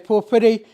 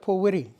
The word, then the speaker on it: pōwhiri: We pronouncing it down here as pōwhiri. However, the people of Taranaki would pronounce it pōwiri. They would take out the H. The people of the far north and the people from Tairāwhiti have pōhiri. So they take out the W.